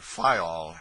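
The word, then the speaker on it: Fayal: of the group FAL the people there pronounced it fol and put the accent on the first syllable we anchored in the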